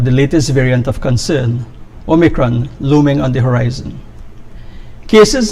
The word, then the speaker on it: Omicron: A new variant of concern, Omicron, some pronounce Omicron, first diagnosed in South Africa, has been announced by the WHO.